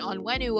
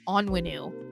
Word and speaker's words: Onwenu: Marcus Cannon coming in on wenu over here like or you know what I heard he says he pronounces his name onwenu I have to try and remember that's how he says it onwenu more you know um